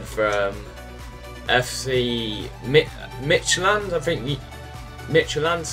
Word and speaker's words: Midtjylland: Midtjylland, that's how you say it.